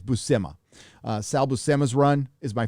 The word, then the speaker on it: Buscema: Now, the Todd McFarlane run and the Sal Buscema, or I never knew how to pronounce his last name. I used to call him Sal Buscema, but I think it's Buscema.